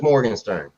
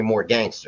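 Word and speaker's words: Morgenstern: couple documentaries because i my last name is morgan stern but they called me more gangster a lot of people can't pronounce it i used to rob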